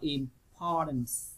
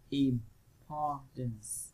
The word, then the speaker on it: importance: Còn câu A chúng ta đọc là importance, importance ha, import làm o dài, chúng ta nhấn vào nó.